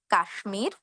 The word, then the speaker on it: কাশ্মীর: এখানে আমরা ম এর উচ্চারণ করব।